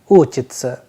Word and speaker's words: учится: the and soft sign, whereas in the second verb it is ending with sa and ya, that is why the pronunciation is uchitsa.